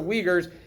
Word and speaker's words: Uyghurs: on anything you wouldn't if you read that word you probably wouldn't pronounce it that way but that is the way it's pronounced the uyghurs uh they're it's basically